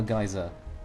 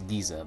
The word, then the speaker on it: geyser: because that's very different no geyser there's some people pronounce a geezer but you know that